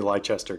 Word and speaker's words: Leicester: I've been pronouncing it wrong this whole time. It's definitely Leicester, guys.